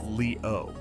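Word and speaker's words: liu: The ancient Chinese called it leu, written as leu and pronounced leo.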